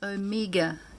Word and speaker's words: Omega: the omega not people saying that wrong it's omega it's greek and it's pronounced o m i o h m i